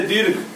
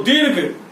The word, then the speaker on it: दीर्घ: लिखा जाता है, जैसे दीर्घ। लेकिन जब इसका हम वर्ण विच्छेद करेंगे तो दीर्घ, तो आप ध्यान से देखेंगे कि दी और घ के बीच में रॉ का उच्चारण होता है, तो हम घ से